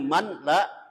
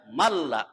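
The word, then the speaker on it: مَنْ لَا: Kemudian malla, tulisannya manla, dibacanya malla. Itu ada nun sukun atau nun mati bertemu dengan lam.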